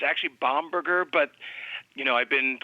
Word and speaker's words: Bomberger: hey it's great to be here it's actually bomberger but you know I've been called all kinds